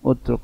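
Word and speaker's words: اترك: Itu tepatnya bacanya utruk, watruk itu ya, bukan masdar.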